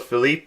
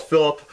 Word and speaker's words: Phillip: I don't know why I call it Philippe, but he's called Phillip. I thought his name would be pronounced Philippe for some reason. It'd just be nice, because I say it because that's the French way of saying Phillip.